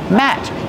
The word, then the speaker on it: mat: pronounce the word Matt Matt use the short ass sound like black cat matte this is a